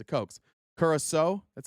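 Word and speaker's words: Curaçao: Curaso, that's how you say it. Curaso.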